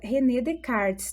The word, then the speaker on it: Descartes: Olha, a pronúncia correta, René Descartes, tá? Descartes.